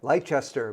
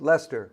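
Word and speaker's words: Leicester: little town of Lester it looks like leester but it's pronounced Lester by the folks down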